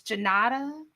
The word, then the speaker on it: Junauda: a name and then just I see the syllables in my head and then I redo it. But it's Junauda.